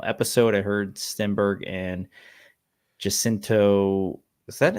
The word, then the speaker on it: Jacinto: I heard Stenberg and Jacinto. Is that how you pronounce his name? Yeah, Manny Jacinto.